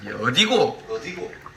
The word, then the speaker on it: 어디고: 어디고 이렇게 뒤쪽에 약간 액센트를 줍니다.